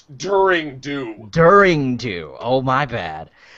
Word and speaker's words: Daring Do: Hold up, you pronounced it wrong. It's During Do.